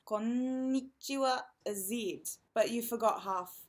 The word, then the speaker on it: konnichiwa: native speaker of English key thing to remember with konnichiwa is that there's an extra in Indian so you need to make sure you pronounce that konnichiwa Aziz but you forgot